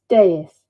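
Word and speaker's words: dais: it's really fabulous yeah deus deuce thank you you're all right those of you who are suggesting how to pronounce it there you go deus on the raised deus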